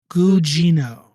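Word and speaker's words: Gugino: pronounce her last name guino I'm looking up on her on her on her on her page it has how pronounced her name okay last name Gino she plays a charact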